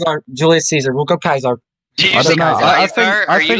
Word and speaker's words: Caesar: him Kaiser instead of Caesar uh Kaiser is also the proper Roman pronunciation of Caesar something today can we